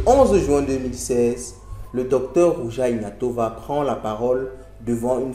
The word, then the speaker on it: Ruja Ignatova: Ruja Ignatova, comme on le prononcerait en bulgare, est née le 30 mai 1980 en Russie.